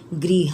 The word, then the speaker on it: गृहं: का क्या हो जाएगा गृह हम घर का गृह हम यह जो ऊपर में अनुस्वार का चीन दिया हुआ है बच्चों संस्कृत में इसको हम मां का उच्चारण में पढ़ते हैं गृहं और इसको हम में